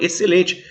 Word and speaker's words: excelente: do próprio ser e a mesma coisa acontece com excelente você não fala excelente fala excelente é como se o x não existisse é como se o